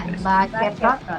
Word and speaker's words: Baceprot: Thank you so much, Voice of BACEPROT. Is that the right way of pronouncing it? Ya, BACEPROT ya.